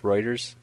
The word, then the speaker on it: Reuters: Not to be an ass, but it's pronounced Reuters.